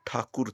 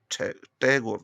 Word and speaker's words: ठाकुर: ठहगोर तो अंग्रेज बोलते थे। ठहगोर ठहगोर उनसे ठाकुर तो बोला नहीं जाता था। उनके उच्चारण में समस्या आती थी उन्हें और वैसे उन्होंने स्पेलिंग भी लिखना शुरू कर दिया जैसे वो बोलते थे। हमने उसी के नकल करनी शुरू कर दी जबकि वो रविंद्र नाथ ठाकुर थे। रवींद्र नाथ टैगोर ने टैगोर हमने गलत उच्चारण अंग्रेजों का पकड़ लिया।